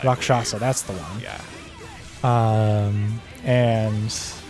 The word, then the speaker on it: Rakshasa: Yeah, so we uncovered the guys of the Rasheka demon. However you pronounce it. Rakshasa. Rakshasa, that's the one.